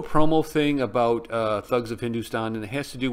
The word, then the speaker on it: Hindostan: little promo thing about Thugs of Hindustan, and it has to do with the ships they built for this. Why is there an O in Hindustan? If it's pronounced Hindustan, and I understand.